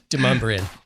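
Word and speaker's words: Demonbreun: Demumbrian.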